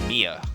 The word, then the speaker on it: Mia: cause a death loss of blood due to blunt force trauma profiles M Maya is that how would you pronounce that I've seen I've seen people that would be Mia yeah I've seen Mia spell differently I've seen